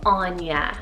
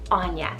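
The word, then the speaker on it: Áine: we have the name anya so a i n e anya now this one is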